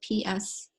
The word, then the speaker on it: psoas: It's a muscle that starts with a silent P, so it's P-S-O-A-S, psoas.